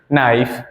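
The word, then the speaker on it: knife: हो गए ठीक है इन सभी में हमने देखो के का जो प्र बिल्कुल भी साइलेंट रहा है हमने कहीं भी के का प्रशन नहीं किया no knowledge night नाइफ नॉट ठीक है अब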